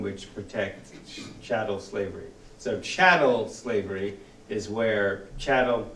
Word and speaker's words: chattel: protects Shadow slavery so chattel slavery is where Channel like rhymes with cattle it's property you're livestock